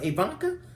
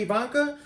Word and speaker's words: Ivanka: Ivanka? Is that pronounced right? Ivanka?